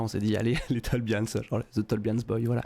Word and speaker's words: Tolbians: Bonsoir The Tolbians.